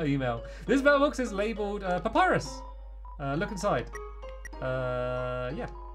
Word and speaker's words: Papyrus: Oh, it's not Papa. I always said his name wrong, didn't I? Let me read it again because everyone corrected me if I had to say his name right. Papyrus. Pap is it? No, it is Papyrus, isn't it?